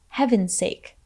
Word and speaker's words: heaven's sake: for this phrase though the z sound at the end of heavens is actually dropped so it sounds more like Heaven's Sake Say it With Me